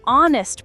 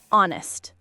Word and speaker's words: honest: An honest h is silent.